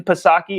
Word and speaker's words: Psaki: Jen Psaki, I don't believe in silent letters.